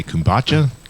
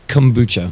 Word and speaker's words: kombucha: started you started a how do you say kumacha kombucha kombucha y uh and what is kombucha like